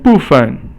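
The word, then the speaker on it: 部分: And then 部分. Now 部 is fourth tone and 分 is 轻声.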